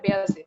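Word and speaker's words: Bayezid: বেয়াজিদ হচ্ছে বলতাম বিকজ হচ্ছে মানে এক্সেন্ট ওয়াইজ উচ্চারণটা হয় বেয়াজিদ, ওই জন্য বলতাম ডোন্ট টেক ইট আদারওয়াইজ।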